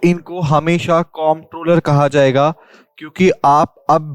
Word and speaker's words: Comptroller: Clear full form जो है वो है कॉम्प्ट्रोलर, ना कि कंट्रोलर, ओके। लेकिन जो लोग हैं वो इसको कंट्रोलर क्यों बोलते हैं कई बार, बेसिकली ये होती है प्रोनाउंसिएशन की प्रॉब्लम, ऑलराइट।